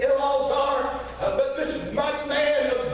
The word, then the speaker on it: Eleazar: If the Lord would help me for just a little while, I want to preach on call him Eleazar. The pronunciation is Elazar.